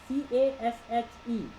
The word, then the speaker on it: cache: CASHE, CACHE spelling है, लेकिन पढ़ते हैं इसको CASH जैसे कैश.